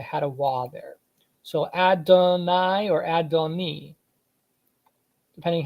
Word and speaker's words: Adonai: So this capital T underneath the letter signifies the ah sound or ah sound. So Adonai is what this is telling you. The T underneath the letter, it has the ah, and then it has the E sound at the end.